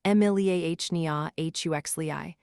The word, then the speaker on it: Emiliania huxleyi: The most abundant one in the modern ocean carries the binomial Emiliania huxleyi, pronounced Emiliania huxleyi, recently reclassified as Gephyrocapsa huxleyi.